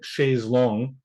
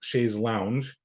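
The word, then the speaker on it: chaise longue: like let's say uh the the French word she's long uh which some Americans pronounce Shay's Lounge uh inaccurately pronounced that way um if our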